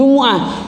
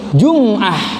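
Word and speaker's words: جُمُعَة: Di ayat itu jumu'ah. Banyak orang bacanya jum'ah.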